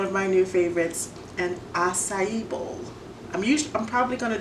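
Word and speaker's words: açaí: Today we're going to do one of my new favorites, an acai bowl.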